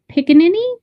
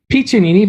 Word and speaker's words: Piccinini: In addition to that, I also have Piccinini. Did I say it right? Come in and correct me. It's Piccinini, but close enough. Piccinini. I was very close.